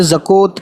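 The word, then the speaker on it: زکوٰۃ: उसी तरीके से जैसे यहाँ टी साइलेंट है, वैसे यहाँ पे वाव साइलेंट है और काफ पे खड़ा ज़बर लग गया, तो ये ज़का हो गया, ज़कात, है ना।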